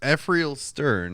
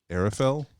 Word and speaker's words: Ephrael Stern: Because in my head, it's Arafel, but I don't know why. It's not pronounced that way. There's no reason I put an extra R in there.